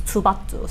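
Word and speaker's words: 투바투: you just say and if you kind of pronounce it like a little softer then it becomes tubatu so i thought it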